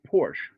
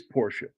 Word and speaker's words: Porsche: Oh, Unless you've traveled overseas, Americans pronounce it Porsche, but it is Porsche.